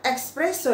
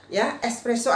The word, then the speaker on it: espresso: di kosta atau dimana Jadi bukan expresso ya teman-teman jadi Espresso aja jangan pakai expresso gitu tidak tidak benar Oke kemudian yang kelima